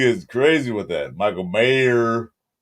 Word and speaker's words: Mayer: Mayor, there's no S.